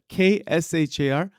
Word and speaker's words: kshar: There's the word shar, K-S-H-A-R, kshar, ksha. That is the Sanskrit, syllable.